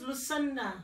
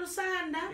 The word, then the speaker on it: Lucinda: In the Xhosa language now, the vowels. Yeah. How they pronounce the vowels is A, E, I, O, U. Okay. So there's no Yeah. like Yeah. Lucinda. Yeah. So the closest things to the is A. That's why I'm Lucinda.